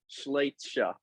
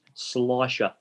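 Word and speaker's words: Schleicher: Ruby Schleitscher from the Collingwood Footy Club. We did this a couple of minutes ago, Stephen. You got the Ruby part right, but it's Slicer. Slicer.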